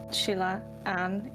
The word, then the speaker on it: SheilannO: It's pronounced SheilannO, which is actually my real name.